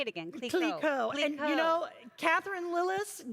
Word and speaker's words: Clicquot: Clicquot.